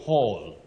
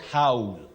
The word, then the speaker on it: Hall: Jeffrey, locally we say Joffrey, but it's Jeffrey Omolo, you say Hall. Hall, not Howl.